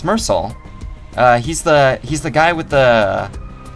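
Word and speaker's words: Meursault: I'm pretty sure it's pronounced Mersal. Like the T is silent, correct? Mersal. Yeah, the L and T are silent.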